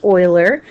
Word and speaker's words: Euler: And I know it looks like Euler, but it's actually pronounced Euler.